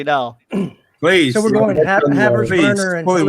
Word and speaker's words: Havertz: a Havertz. That's how you pronounce it.